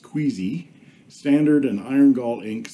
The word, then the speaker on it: KWZ: inks of Australia and kwz pronounced queasy standard and iron gall